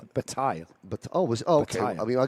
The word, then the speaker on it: Bataille: Now, well, you say Bataille. If that was the French pronunciation, it would be Bataille.